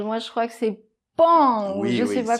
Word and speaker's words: paon: Il faut faire comme si le O n'existait pas ! Donc ça se lit comme c'est écrit ! P, A, N. C'est-à-dire, ", avec la nasale qui ressemble à un A là, , .